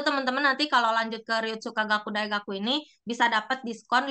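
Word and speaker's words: 流通科学: Nah, terus untuk universitas yang kiri atas ini dibacanya Ryutsukagaku.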